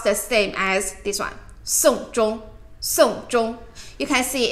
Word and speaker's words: 送钟: Song zhong, song zhong. You can see it's different characters, but pronounce it the same.